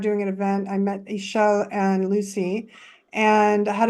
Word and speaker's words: Ichel: Ichel, is that how you say it? Ishel, yeah, Ishel.